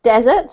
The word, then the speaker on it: desert: times I believe um you pronounced it desert which is correct and I'm just going to put the other confusing word in the chat box which is dessert that's the thing that you eat after your m meal just